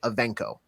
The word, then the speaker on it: Evancho: Art was saying the A in the middle sounds like an E. So like Evancho.